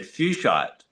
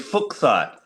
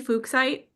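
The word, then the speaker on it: fuchsite: Now I've always had fuchite but then recently I believe that the guy who found it surname was actually pronounced fukk so it is fuksite cuz always find it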